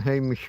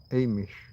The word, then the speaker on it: Amish: on a in a Hamish community. Amish. Hish. Amish. There's no H.